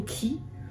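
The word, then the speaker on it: Khey: Alors c'est soit K ou Ki. Ah bon, en gros ça s'écrit K-H-E-Y.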